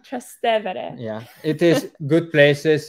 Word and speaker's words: Trastevere: Trevestere, Trastevere. Yes. I always say it wrong. Trastevere.